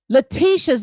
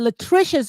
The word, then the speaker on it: Latricia: Destiny had to she had to pronounce Letitia's name, not Letitia, Latricia's name about 4 times.